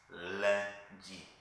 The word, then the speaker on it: lundi: In French it's lundi.